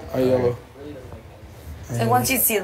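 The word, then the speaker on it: Ielo: mang and then Bruno's I right yeah it's pronounced just like he spelled i e l o oh yellow so once you see the last you see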